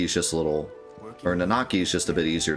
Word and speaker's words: Nanaki: the people um I like the uh pronunciation of nanaki I've always said nakaki I feel like most people have said it that way but nanaki sounds cool too and it feels like it's closer to uh Native American pronunciation my limited knowledge of